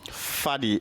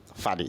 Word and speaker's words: Fadi: Hey, so Fadi, I think that's the right pronunciation, right? That's how you pronounce it in Arabic, yeah. Fadi.